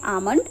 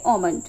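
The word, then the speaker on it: almond: के अकॉर्डिंग तो वहां पर हम लोग इसे बोलते हैं आलमंड। एंड अगर अमेरिकन के अकॉर्डिंग देखेंगे तो वहां पे ओमंड। ठीक है? यहां पे आलमंड कहीं पे भी नहीं आएगा। L would be silent there.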